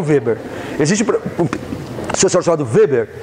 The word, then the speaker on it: Weber: Existe um sociólogo chamado Weber, ou Weber, aí tem várias pronúncias, eu falo Weber.